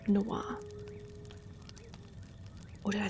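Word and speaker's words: Dusknoir: I pronounce it like dusk no war. Well, yes. I I feel like it's just phonetically spelled out though cuz not everyone knows how to say noir.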